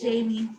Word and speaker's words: Jaime: Is it Jamie? I'm sorry, you can unmute. I'm not sure I'm pronouncing your name properly. It's Jamie.